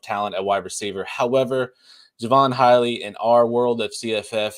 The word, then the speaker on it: Javon Hiley: How do you pronounce his name? Did I get it right? Yep. Yeah. Javon Hiley, yep.